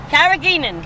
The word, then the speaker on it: carrageenan: Carrageenan.